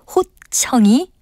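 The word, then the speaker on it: 홑청: 그런데 실제로 발음과 같이 호청이라고 하는 것은 없고요. 호 밑에 티읕 받침을 쓰는 호청이 맞는 표현입니다. 호청이라는 것은 홑겹으로 되었다는 뜻에서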